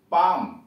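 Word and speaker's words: palm: अब ये यल पर, यल साइलेंट कहाँ कहाँ, पी ए एल एम, पाम, यल silent है इसमें।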